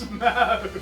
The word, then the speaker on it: Smaug: Who's Smaug? The dragon? And Smaug. Thank you for pronouncing it correctly, by the way.